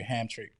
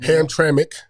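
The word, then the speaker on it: Hamtramck: Is it going to be at u the the legendary Hamick Stadium? Ham Tramik Stadium. I'm sorry. Yeah. I I was butchering the pronunciation all last year.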